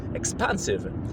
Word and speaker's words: expansive: wyostrzonym słuchem wiedzą że jest lekka różnica w wymowie między expensyw ekspansyw ekspansim ekspansim Słuchajcie zanim wam powiem o tym